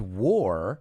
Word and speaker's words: wore: By the way, the word wore, llevar puesto en pasado, sounds exactly like the word war, guerra.